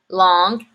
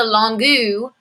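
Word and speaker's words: longue: in writing so long long the feminine form we add a u and an e but we don't say them it doesn't turn into longu it's just long so the masculine long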